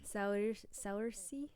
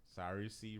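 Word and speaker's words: Saoirse: Spell it. S-A-O. S-A-O. S-A-O-I-R-S-E. Saursy. Ronan. Yeah. Saursy Ronan.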